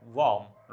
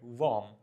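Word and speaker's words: warm: इसमें हल्का सा औ का साउंड करेंगे आप। वार्म right वार्म।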